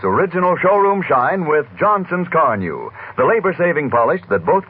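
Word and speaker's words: Carnu: Why not make a note now to buy a can of Johnson's Car New tomorrow? It's spelled C-A-R-N-U.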